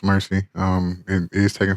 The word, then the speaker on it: Mercii: I made myself Mercy uh that's how it's pronounced Mercy um and it is taken from derived from